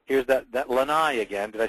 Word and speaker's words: lanai: Here's that lanai again. Did I say it?